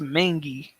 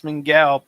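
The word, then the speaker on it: Mingua: It's pronounced Mingy. No, it looks like it says Mingao beef jerky. It's Mingy. I don't know if this is just a Kentucky exclusive again or what, but this is another thing I grew up on. Mingy. That's how you say it.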